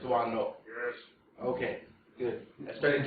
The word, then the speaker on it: Doisneau: I'm pretty sure about, because I asked several French students in my classes, teaching photo classes, the proper pronunciation, because I've heard it all kinds of ways by American lecturers. I'm pretty sure it's Doisneau.